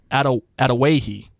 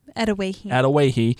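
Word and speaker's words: Adawehi: By the way, I checked that out, how to pronounce it. It's Atawahi. Atawahi in the show becomes close as they share knowledge of treatments and herbal info.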